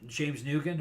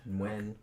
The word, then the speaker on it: James Nguyen: James Nugan or no, it's Nguyen. Nguyen, I think is how you pronounce it.